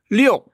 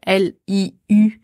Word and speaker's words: 六: qu'on a tendance à prononcer Liu à la française, hein, Liu ou Liu, comme Lucie Liu.